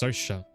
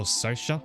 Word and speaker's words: Saoirse: It's pronounced Saoirse. It's an Irish name which I'd never guess, and I never guess how it's pronounced. So Saoirse, that's what she's called.